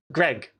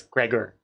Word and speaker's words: Gregor: First of all, my name ain't Greg. It's Gregor.